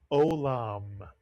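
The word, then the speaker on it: עולם: How about this word that begins with a silent letter? The silent in. Don't read it as a Y. It's a silent letter. Two vowels, two syllables. The word is olam.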